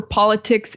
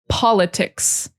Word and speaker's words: politics: But in English, it's politics. And the emphasis is on the first syllable. Politics, politics, politics. And the person is the politician. So the emphasis changes. Politician, it's on the second syllable.